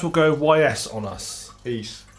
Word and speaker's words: Ys: East. East. East, yeah. Pronounce it properly, motherfucker.